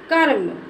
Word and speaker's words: कर्म: है उसमें नहीं बोलते अब जिस अक्षर के पहले लगा होता है उसमें बोलेंगे अब का के का के बाद इसको बोलेंगे कर्म क्या बोलेंगे इसको कर्म